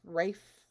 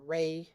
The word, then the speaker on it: Ralph: like a dinner rave I think it's pronounced Rafe Fiennes. I always question that. It looks like Ralph, but it's not Ralph. It's like Ray Fiennes or Rafe Fiennes. Something like that.